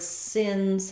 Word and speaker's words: sins: the IPA for that looks like the word sins but the word sins has a z sound so this letter s Says Z in sins the sins of the